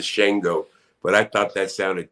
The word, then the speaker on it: Shango: name and it's shingle the correct pronunciation of the shango but i thought that